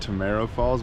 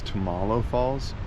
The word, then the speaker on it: Tamalo Falls: I said Tomorrow Falls, but it's Tamalo Falls with an L, not an R.